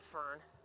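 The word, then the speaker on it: firn: impossible to shovel, called fern. Sounds like the plant.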